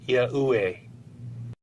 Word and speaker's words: Yahuwah: These I-E-U-E letters in this famous illustration would be pronounced as Yahuwah.